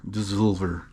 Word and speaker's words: Dssovlr: from a relatively recent brewery called dissolver which is spelled d-s-s-o-l-v-r dissolver anyway uh i've had